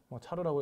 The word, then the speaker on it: char: 자 sentence에서 char 차르라고 읽으면 되는데 캐릭터를 하나하나씩 가져오는 코드죠.